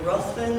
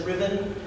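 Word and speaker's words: Ruthven: it as an American the vampire's name is Lord ruen r u HB n I've heard from my British friends that the right way to pronounce that is Riven um so pick whichever way you want but Lord Ruan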